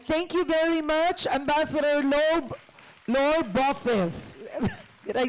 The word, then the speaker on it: Laure Beaufils: Laure Beaufils. Dear, mali yung mga pronunciation. I shall say one thing. It is a name of French origins, and I've said before, I've seen it all, so don't worry.